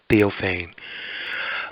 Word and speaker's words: Theophane: letter P so it's not deal pain it's theophane uh we actually had about a half hour